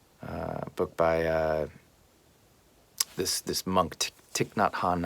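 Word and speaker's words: Thich Nhat Hanh: by this this monk tick not Han I believe is how you say his name I'm not an expert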